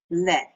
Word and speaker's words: lait: L-I-L-A-I-T, lait. The T is silent. We don't pronounce the T.